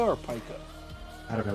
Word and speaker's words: pica: It's P-I-C-A. Yeah, I know. I think it's pronounced pica. I mean, Pikachu says Pika Pika. So. Yeah. Well, I've always heard it pronounced pica for the medical condition.